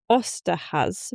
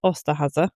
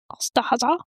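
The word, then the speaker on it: Osterhase: In 17th century Germany, the Ostahaz, which apparently you pronounce as Ostahaza. Ostahaza.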